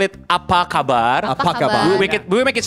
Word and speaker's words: Apa kabar: Apa kabar? Pakaban. Apa kabar?